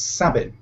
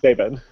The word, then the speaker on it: Sabin: Oh, how do you say your last name? It's Sabin. Sabin. I've been saying it wrong all this time. And you never corrected I worked with me. you for like 2 years, and I still thought it was Sabin.